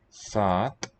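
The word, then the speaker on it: सात: Sat. So loss of P, but the vowel lengthened in its place. Second syllable dropped.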